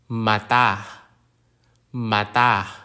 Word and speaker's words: mata: The glottal stop is a sound made by briefly closing the vocal cords, which is a natural part of Filipino pronunciation, particularly at the end of words ending with vowels.